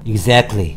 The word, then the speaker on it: exactly: 자, 그리고 그 다음에는 발음 exactly의 발음이 t가 거의 묶음이 돼서 exactly, 마치 크 발음이 나는 것처럼 t가 아닌 크 발음처럼 발음된다는 것도 기억하셔야 되겠습니다.